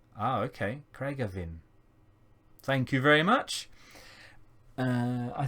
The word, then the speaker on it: Craigavon: Oh, and it's pronounced as Craig Arvin. Ah, okay. Craigavin.